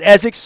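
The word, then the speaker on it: Essex: ain't from here H I said it right right ESX that's how my mother my mother called e with with the Z's look when you're from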